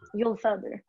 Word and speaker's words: Uhlfelder: Uhlfelder, right.